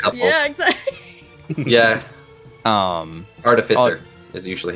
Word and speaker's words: artificer: you call it AR yeah EXA yeah um artificer is usually how it's pronounced fair enough um I've heard it prounce